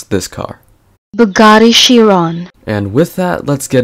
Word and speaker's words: Bugatti Chiron: beginning of this video, this is how you pronounce this car. Bugatti Chiron.